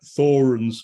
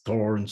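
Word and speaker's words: Thorens: i think thorin's the the british one is like thorans which is really flat but i think you speak to germans it's thorns and there's there's all sorts of ways it's definitely not thorns that's the big one anyway however one chooses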